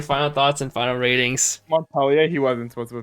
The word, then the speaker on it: Montpellier: Wasn't supposed to pronounce the R in Montpellier.